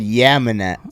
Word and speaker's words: Yeomanette: Manetta. so you all right. The first that you said Yeomanette. So like YEAM. Not like yeah, man. Like yo, Manetta.